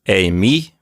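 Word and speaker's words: εἰμί: And so it's pronounced emi. We have the accent on the second syllable, although that accent can move around.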